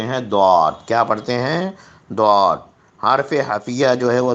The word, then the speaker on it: ضاد: ضاد۔ حرف حفیہ جو ہے وہ ضاد، یہ بہت امپورٹنٹ ہے اس کا تلفظ۔ زبان کی کروٹ اور اوپر کی داڑھوں کی جڑ سے، یا تو لیفٹ طرف کی داڑھوں سے ادا کیجئے یا پھر رائٹ طرف